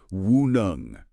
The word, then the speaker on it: WuNeng: That's pronounced WuNeng.